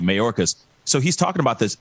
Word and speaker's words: Mayorkas: see the press briefing with uh majorca um hopefully i'm pronouncing his last name but anyway uh right marcus mayorkas yes thank you mayorkas so he's talking about